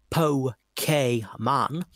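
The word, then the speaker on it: Pokémon: this fall of 1998 pokemon pronounced po k man for game boy and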